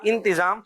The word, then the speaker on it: انتظام: ایک تلفظ کی درستی آپ سے لے لیتے ہیں, لفظ کہا جاتا ہے انتظام یا انتظام؟ انتظام. انتظام آپ نے کہا انتظام. جی ہاں, تے کے نیچے زیر ہی ہے انتظام.